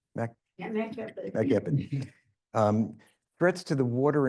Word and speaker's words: MAC-EPID: MAC-EPID? Yeah, MAC-EPID.